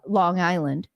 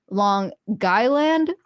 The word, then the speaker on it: Long Island: now maybe that's it I learned the proper way to say Long Island see I thought it you know in proper English coming from Washington State Seattle it's uh Long Island but apparently it's long guy land so but you gotta